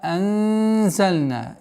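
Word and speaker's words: أَنْزَلْنَا: Вама анзальна. Мягкое ихфа. Ихфа мягкое произношение, так как звук зай мягкий звук.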